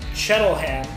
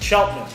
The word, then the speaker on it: Cheltenham: so when I look at it I say shuttle hand but it's Cheltenham if you the local pronunciation here in Cheltenham and then what uh